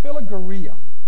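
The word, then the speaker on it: philarguria: look if it's a very strange word it's pronounced phila Gurria and it really doesn't mean love it means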